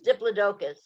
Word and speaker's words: diplodocus: kind of neat so that's pronounced diplodocus i don't mean to correct your pronunciation but it's diplodocus please my brother was